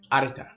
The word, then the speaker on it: Arita: Arita. You gotta roll the R.